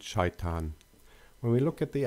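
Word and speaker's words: شيطان: In Arabic, they are pronounced as Ibrahim and Shaitan.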